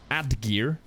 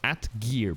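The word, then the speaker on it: Atgeir: Yeah, so this polearm, Atgear, weird pronunciation, but at least that's what Google tells me. That's how it's pronounced, like Atgear, basically.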